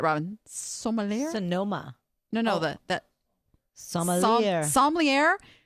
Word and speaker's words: sommelier: No, that sommelier. Sommelier. Well, that's not how it's spelled. That bugs me now. I'm the phonics girl. Anyway, must be a French word or something.